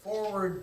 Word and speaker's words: FWRD: and then there's also Forward TV, and it's spelled FWRD, and that stands for forward, not the F word.